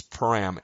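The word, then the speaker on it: param: That by the way, it's pram. That's you have to spell it that way. P A R A M and the the key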